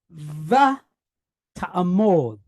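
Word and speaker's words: ותעמד: Then we have a mem. So we have an M sound, and it's pointed how? Cholem, O. And then the dalet, the D sound, od, mod. So we have va ta'amod. You hear the stress?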